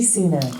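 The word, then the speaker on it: Sunak: I actually know this one exactly it's Rishi sunac yes how do you say it let's see if Alexa knows okay great Alexa who's the UK prime minister stop it with the cuteness United Kingdom is Rishi sooner nailed it I mean she did hear me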